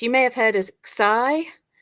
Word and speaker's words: pi: to this one which you'll know is pi but it's pronounced p in Greek and it makes the